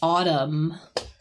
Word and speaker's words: autumn: Um, I would notice too because I know there's this this like N here, but it's just autumn. So, we don't really we don't pronounce the the N.